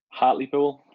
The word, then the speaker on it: Hartlepool: Now you mentioned Newcastle United, and then I'm sorry, you're gonna have to pronounce the lower league team that you support again one more time. Hartlepool, Hartlepool.